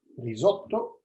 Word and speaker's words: risotto: rice will be ready risotto this is the italian pronunciation okay i must say